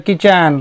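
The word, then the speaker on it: kitchen: रहता था, इन द किचन रसोई में, किचन मतलब था रसोई घर, टी यहाँ पे साइलेंस हो गया है ना, टी का उच्चारण नहीं करते हैं, रसोई में रहता था,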